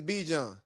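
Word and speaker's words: Bijan: You know good and damn well anybody's name who is Be John is if your name is spelled B I J A N, your name is Be John.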